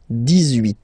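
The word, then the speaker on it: dix-huit: So you will make this little link between the two, the liaison. 18, 18, 18.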